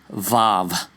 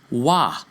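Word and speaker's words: Waw: We'll show you where those sounds originated, and it's not Vav, it's Wah. And it denotes a W, O, or U sound.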